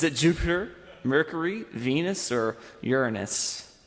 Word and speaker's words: Uranus: Is it Jupiter, Mercury, Venus, or Uranus? And yes, that's how you pronounce it.